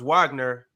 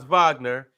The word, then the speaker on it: Wagner: assists and for Germany France Wagner or Vagner he led the chase with say my name right Ron get my name right it's not wack Vagner fron Vagner he had 18 points